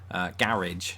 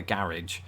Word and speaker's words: garage: Garage. I'm going to park the car in the garage. Americans do what Southerners in England do with the word bath. Bath. They extend the A.